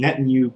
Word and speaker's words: Netanyahu: by politicians within their leading party under the netanyahu government it's that's how you pronounce that asshole's name i can't help but